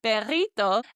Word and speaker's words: perrito: So I added that to say a little hot dog, perrito, and I knew that this had a double R in the word. So I pronounced it as that trilled, rolled R sound.